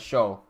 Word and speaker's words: Siu: Angelo goes, the Siu in Siomai for us is pronounced as show.